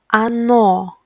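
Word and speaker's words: оно: the last personal pronoun ano ano it means it and the same thing here stress falls on second letter O that's why first letter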